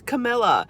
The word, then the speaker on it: Camilla: excuse me you all i always think of kamala harris but it's camilla but i think that i